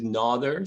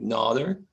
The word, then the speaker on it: Nader: So my first name is Nader, so the A is long, Nader.